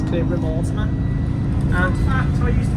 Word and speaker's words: Cleobury Mortimer: So we won't be long now until we get to Cleobury Mortimer as it's spelled. I can't believe it's spelled as Cleobury Mortimer when it's Cleobury Mortimer.